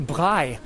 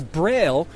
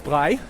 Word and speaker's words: Braille: but you've also got a guy named a bi and you probably don't recognize that name but if I pronounced it as Braille I'm sure you do recognize it so Braille the guy